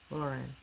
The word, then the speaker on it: Loran: But the easier the the harder one is Lauren. So it would be Laur Luren. Lauren.